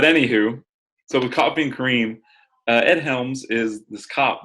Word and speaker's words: Kareem: Kind of Kareem, not cream, because it is spelled Kareem.